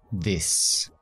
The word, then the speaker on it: this: Fíjate cómo pronuncio la palabra this, la TH. Se ve mi lengua, ¿verdad? This. Eso es fundamental en inglés. Cada vez que ves una TH, que se ve la lengua.